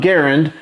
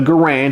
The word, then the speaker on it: Garand: the comment section below the inventor of this rifle John Garand didn't pronounce his name Garand however the US military called it the Grand and so both pronunciations are correct so you don't